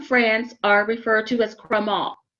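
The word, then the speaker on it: crémant: are referred to as crema the t is silent chromol they're not from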